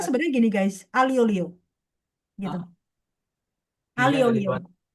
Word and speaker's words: aglio olio: Tapi bacanya sebenarnya gini guys, alio olio gitu. Alio olio. Bacanya alio olio gitu. Alio olio. Heeh. Tapi beberapa masih ada yang baca aglio olio. Tapi kalau pakai cara baca Itali itu alio olio gitu.